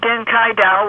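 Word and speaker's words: điên cái đầu: okay it's um it's it's a GI pronunciation of den kaida which literally means off the- wall okay means mean means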